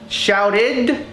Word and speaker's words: shouted: Like para, shouted, id, not ed. It's id.